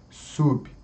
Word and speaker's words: sub: Então veja, o B sub é um B mudo, né? Não podemos colocar ali uma vogal I. Sub, não, daí aí muda. Tem que ser sub, subtum, subtum.